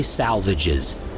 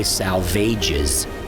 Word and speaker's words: Salvages: rocks called the Dry Salvages, memorialized in a T.S. Eliot poem by the same name, where they were made to rhyme with assuages.